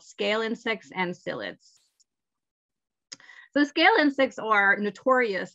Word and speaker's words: psyllids: and to farmers so psyllids ah psyllids that's with a p and you don't pronounce the p are vectors to plant